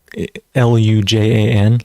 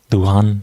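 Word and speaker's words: Luján: there were actually um l-u-j-a-n Lujan I think family I'm not sure I'm pronouncing the J properly I think it turns into an H but Luan Luan family so a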